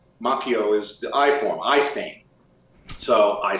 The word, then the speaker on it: Macchio: because the Italian alphabet when you've got two C's together and an H or it's a c and an H that's like a hard C the H is silent